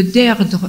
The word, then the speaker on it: Deirdre: Et il faut lire aussi un livre de Deirdre Manifold. Deirdre, ça s'écrit D-E-I-R-D-R-E, Manifold, M-A-N-I-F-O-L-D, qui s'appelle « Le nouvel ordre du monde ».